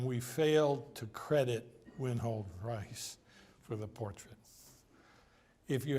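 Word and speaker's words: Reiss: Some people call him Rees, but I think the correct pronunciation is Rice.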